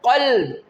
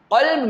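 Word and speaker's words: قلب: The first example which is mentioned is that the word qalb and the second word kalb.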